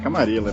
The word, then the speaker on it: Camarilla: aqui gosta mais de Camarilla, né? Camarilla. Bom, peraí, não, repete isso aí. Camarilla. Camarilla. Nossa. É a pronúncia do Bloodline. do Bloodlines. Mas é sacanagem, é Camarilla, porque eles que põem o sotaque.